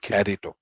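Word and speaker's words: χαριτόω: Yeah, charito, carito. They pronounce it carito.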